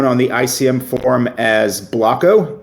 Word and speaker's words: Blocko: And now I know how to properly pronounce Blocko because I have always called you Blotcho in my head.